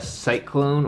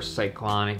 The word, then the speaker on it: Cyklon: this is the lots sportiva cyclone or cyclonic just depending how you say it at cyklon and